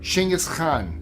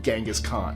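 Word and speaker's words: Genghis Khan: He wasn't American, so it would not be called Genghaskhan, in case you're wondering why I pronounced it that way. That's how the Mongolians pronounce it.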